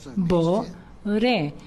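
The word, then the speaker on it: בורא: Por eso, en hebreo, Boré es Bo-Ure, Bo-Re. Dos palabras que se escriben juntas. Bo-Re. Bo es ven. Re es y descubre, revélalo.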